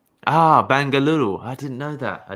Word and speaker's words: Bengaluru: or is it different it's i mean in english they speak bangalore okay the original name is bengaluru ah bengaluru i didn't know that